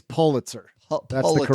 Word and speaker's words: Pulitzer: It's Pulitzer. No, it's Pulitzer. Neither of us were right. I said Pulitzer because it's fun to say poo, but it's Pull. You say it's Pulitzer.